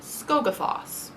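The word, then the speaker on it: Skógafoss: Okay, I looked up how to pronounce this one too, and it's literally just how it's spelled, which is not what I expected. Skogafoss.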